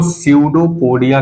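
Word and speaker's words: pseudopodia: हुआ हिस्सा है इसको सीडो पोडिया कहते हैं क्या कहेंगे बाबू सीडो पोडिया पी एस ई यू सी यू P silent है यहां पे सीयू डो पोडिया ठीक है तो सूडो पोडिया इसको फाल्स फूट भी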